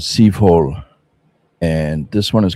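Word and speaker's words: Soivohle: This is a house called It's pronounced Civois and it's a house by Liz Zorn. This is the first one that I ever received. Art in a bottle. Yeah. It's called Civole.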